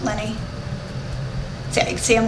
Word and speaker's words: Leni: I admit it although Lenny you probably pronounce a lot of different ways but I think I'm think that's l-e-n-i beanie honey I don't know I always pronounce Lenny yeah you see him